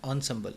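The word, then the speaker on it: ensemble: असम्बल्स का मतलब प्रोनाउंस, इसको क्या करेंगे, ऑनसम्बल, इसे ऑनसम्बल प्रोनाउंस करेंगे।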